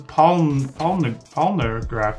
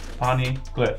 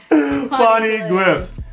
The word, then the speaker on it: Poneglyph: There ain't no graph in it. It's glyph. Glyph. Yeah, ain't no graph, it's glyph.